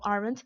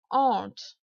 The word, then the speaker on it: aren't: Donc, même si ça s'écrit aren't, parce qu'on entend souvent aren't, c'est faux de le prononcer comme ça. La prononciation, c'est aren't, aren't.